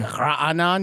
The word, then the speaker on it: Raanan: It's like Raanan, you know. Oh, Raanan.